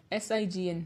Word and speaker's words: sign: Rule number 1, the letter G is not pronounced when it comes before the letter N in a word. It means agar kisi word mein N se pehle G aa raha ho, to us word mein hum G ko pronounce nahi karte. Example, DESIGN, design, FOREIGN, foreign, ALIGN, align, SIGN, sign. Exceptions होते हैं जिसमें G